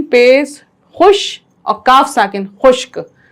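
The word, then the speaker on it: خشک: खुश और काफ साकिन खुश्क तो आप इस तरह से भी पढ़ सकते हैं डायरेक्ट भी पढ़ सकते हैं खे शीन काफ पेश खुश्क तो सही तलफ्फुज है खुश्क अच्छा इसका जुमला कौन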